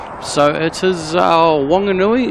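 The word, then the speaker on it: Whanganui: New Zealand, the uh the wh is still just pronounced as a W. So it is Wonganui, not Fonganoi.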